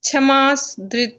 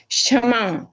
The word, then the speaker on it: क्षमा: सा बोल रहे हो आप छ बोल रहे हो छाते वाला क्ष यहां पे है क्षत्रिय वाला आप बोल रहे हो छाता छ से छाता छाता नहीं है बोले क्ष क्षमा नहीं है ना माता क्षमा गलत है ना वही तो मैं गलती निकाल रही हूं आपकी क्षमा नहीं है क्षमा क्षमा क्ष क्षमा अक्ष आधा क और श षटकोण का क्ष क्षम ये शरबत